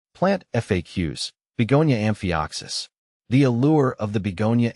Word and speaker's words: amphioxus: Amphioxus, pronounced amphioxus, is the species name, derived from the Greek word for lancelet, a primitive fish, likely referencing the plant's slender leaves.